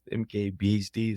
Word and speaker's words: MKBHD: BD is it Marcus brownley how what's his MKBHD is how you pronounce it yes but yeah he his reviews